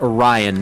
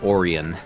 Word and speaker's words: Orion: listening in the chat it's pronounced Orion not Oran that was one thing